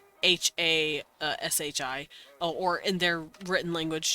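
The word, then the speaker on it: はし: I know there's a word in Japanese called Hashi h-a-s-h-i or in their written language just ha she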